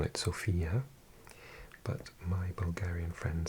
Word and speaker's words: Sofia: Well, I think in English we call it Sofia, but my Bulgarian friend says it's pronounced Sofia with the accent on the O, Sofia.